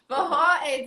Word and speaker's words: Forró: Forró, this is one of the words that you pronounce it with like an H.